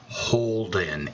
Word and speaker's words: Houlden: all of you grammar nazis out there it's pronounced Holden it's not bounced fooled in its Holden to